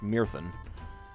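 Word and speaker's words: Myrddin: Mirden. Of course, I want to pronounce that as Welsh, Mirthen.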